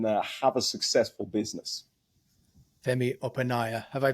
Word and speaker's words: Opaneye: that you can have a successful business FEI opaya have I pronounced your surname correctly this time Opa Opa okay I'm GNA get it right Fe Opa